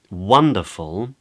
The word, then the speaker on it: wonderful: In a word like wonderful, the stressed syllable is actually the first one, just before the W. It's one. Wonderful. So that's a way that you can check absolutely any word.